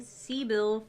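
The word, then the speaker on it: Cybele: uh okay gibson says sakeem is saying c bill for uh the the the c-y-b-e-l-e that's how you say it yeah okay let's clear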